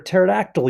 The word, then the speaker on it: pterodactyl: can't you hear a pterodactyl use the bathroom because the P is silent alright Lisa so what